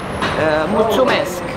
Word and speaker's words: Mulțumesc: How do you say thank you in Romanian? Mulțumesc. Mulțumesc.